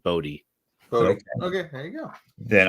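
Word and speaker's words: Bode: article that said uh joe hill um pronounces it bodhi okay there you go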